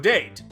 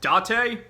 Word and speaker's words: Date: with long-running character makoto date it's pronounced dot a date where he helps